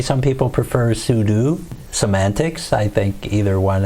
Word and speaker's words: sudo: would just type in sudo sudo means that you are going in as a pseudo root user except pseudo spell different but it's kind of pronounced the same way some people prefer sudo semantics i think either